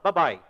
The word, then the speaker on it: bye: A única coisa que a gente tem aqui é que esse e aqui não é pronunciado. A gente não fala bye bye, a gente fala bye. Ba by. Ok. Não é bye bye bye.